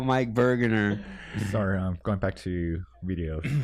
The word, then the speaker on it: Burgener: of close to Santa Cruz, we asked Mike Bergener. Oh no, how do you pronounce it? Burgener.